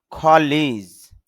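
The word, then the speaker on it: colour: এখানে শেষে র সাউন্ডটা কম হবে, খালা এরকম বললেই হবে।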